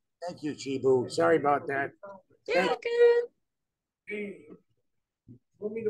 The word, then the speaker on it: Chibu: coming up ch ch it's Chou right it's Chi Chi thank you chibo sorry about that me